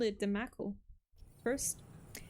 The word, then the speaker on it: Mako: I remember I called it the Mako first. Because in Spanish, we pronounce the A as A.